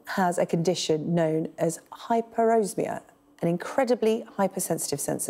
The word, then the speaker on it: hyperosmia: much for joining me and joy did I pronounce hyperosmia right yes it's hyperosmia hyperosmia yes it is um a very rare